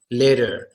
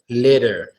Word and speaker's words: litter: but this is literally we actually pronounce the T sound as a soft d sound litter litter then from later you